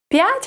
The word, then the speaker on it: п'ять: П'ять has an apostrophe. So, what does an apostrophe do in Ukrainian? It divides the pronunciation of our word into two parts.